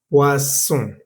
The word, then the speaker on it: poisson: La O y la I suena wa, como en la palabra oiseau, que significa pájaro. Poisson significa veneno. Poisson significa pescado.